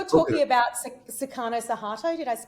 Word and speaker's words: Suharto: talking about Sukarno Suharto. Did I pronounce that correctly?